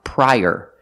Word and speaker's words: prior: donuts also this word this word is pronounced prior using the long i pry and like Burger link The Sounds together prior use the Y sound like in yellow to link the two vowels I prior prior prior prior